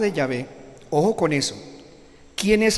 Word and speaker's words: Yahvé: Algunos dicen Yahweh, mal pronunciado, rechace eso. Yahweh no es la pronunciación correcta, no existe la W en hebreo, se lo aseguro, no existe la W en hebreo, por favor.